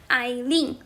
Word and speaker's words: Aileen: 谢谢 Aileen is not hard to pronounce. There are just only 2 syllables. 就2个音节啊 Aileen, quite simple, right? And it sounds pretty much like sounds pretty much like Chinese. 然后跟中文听起来非常非常的像啊 It sounds quite similar to Chinese, right?